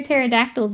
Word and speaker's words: pterodactyl: great ulture M says why can't you hear pterodactyls use the bathroom cuz the pee is silent hey those look Wicky